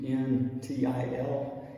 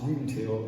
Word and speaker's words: until: If you see U-N-T-I-L, it's now not pronounced until, it's just until.